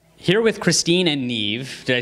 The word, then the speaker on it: Niamh: here with Christine and Neeve did I say it right yes you did